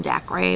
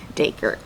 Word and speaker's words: Daker: not her real name Nera and daker I think but I call him Dak Ray because whatever there is a pronunciation got and it says daker and so nerra is